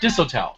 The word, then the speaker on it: Disotell: Dr. Todd Disotell, right? Did I say his name right? Yes.